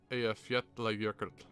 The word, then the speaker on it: Eyjafjallajökull: It says, Okay, so they pronounce it Eyjafjallajökull.